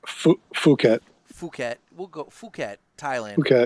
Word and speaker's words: Phuket: I'm looking at it, I think this might be pronounced as fuck it, but it's probably more like Phuket. Phuket. We'll go Phuket, Thailand. Phuket, Phuket, something like that. Yeah. Actually, Phuket.